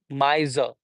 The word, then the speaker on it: miser: spend money like that so miser would be two syllables only there is no final r sound in British English but in American English